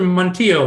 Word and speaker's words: Montillo: um and uh mr montillo am i saying your name right first of all uh yeah that's actually properly pronounced in puerto rico right i'm gonna declare